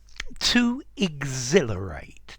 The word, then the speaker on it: exhilarate: hi there students Exhilarate to exhilarate the H is silent exhilarating an adjective exhilarated